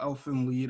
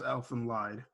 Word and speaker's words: Elfen Lied: Even though it's lead, I always call Elfin lead as Elfin lied.